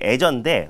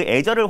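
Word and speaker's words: Azure: 이 발음이 한글로는 또 애저라고 적혀 있더라고요. 맞아요. 네, 그래서 외래어가 좀 발음하기가 좀 애저라고 할게요.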